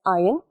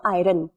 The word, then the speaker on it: iron: Now, presence of heavy metals such as iron, zinc. I would like to tell you one thing. It is not iron. Okay, the R is silent. It is iron.